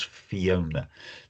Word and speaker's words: Fiona: Um she she has some um of the Welsh language, but the the way her first name is spelled and pronounced is English. It is Fiona.